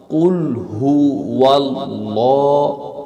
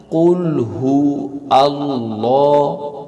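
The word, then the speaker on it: قل هو الله: এর পরে হচ্ছে ওয়াও কুলহু ওয়াল্লাহ ওয়াল্লাহু আহাদ ওয়াও এর স্থানে আমরা হামজা ব্যবহার করি যেমন কুলহু আল্লাহ কুলহু আল্লাহু আহাদ এটা হবে ভুল হামজা উচ্চারণ করে পড়লে ভুল হবে এটা শুদ্ধ হবে এভাবে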